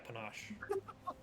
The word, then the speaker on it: panache: word uh Panache yeah Panache it rhymes with ganache yeah that's all right